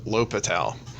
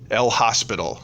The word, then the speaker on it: L'Hôpital: not spelled like that French is funny and has lots of additional letters even though you don't pronounce them so one way that we pronounce it is el hospital if you ever call